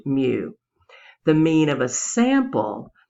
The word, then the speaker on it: mu: The mean of a population uses the Greek letter mu, and that's pronounced mu.